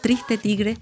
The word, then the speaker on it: Triste Tigre: Le agradecemos muchísimo haber estado con nosotros para este libro, que además se pronuncia en francés y en español igual, Triste Tigre, de Nesh Sino.